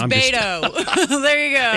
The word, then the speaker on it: Beto: It's Beto.